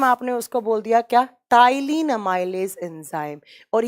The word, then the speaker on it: टाइलिन: enzyme टाइलिन अमाइज enzyme यहां पर P pronounce करते हैं तो इसको पी को साइलेंट कर देते हैं टाइलिन बोला जाता है तो आपसे एग्जाम